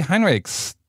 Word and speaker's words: Heinrichs: a little bit about it later welcome Jay Heinrichs do I pronounce your name right Jay Hinrich siddhis you're